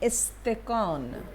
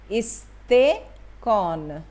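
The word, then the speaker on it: استکان: তারপরে হচ্ছে ইস্তেকন, ইস্তেকন, তের নিচে কিন্তু মানে জের দেওয়া আছে, যাতে ইস্তেকন উচ্চারণটা একটু হেল্প করেছে এখানে।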